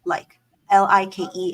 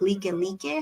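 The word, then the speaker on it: Likelike: street or something was it's spelled like like l i k e l i ke e but we learned that it's like le le how they pronounce it not like like so it's being very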